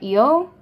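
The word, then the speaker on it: ㅓ: It's actually not pronounced really O, it's more Eo, because it's E-O actually is the way they spell it out.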